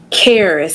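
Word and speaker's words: Charis: up with that name Caris c h a r i s the H is silent and it is a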